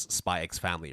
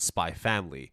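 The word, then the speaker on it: Spy × Family: also been pronounce as spy ex family right always uh officially they're both Hunter Hunter and spy family however while I do say hunter hunter I say spyx family I don't know why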